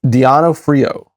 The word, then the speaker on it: D'Onofrio: I think how do you pronounce his last name? Vincent Farron? Oh no, I'm sorry. D'Onofrio.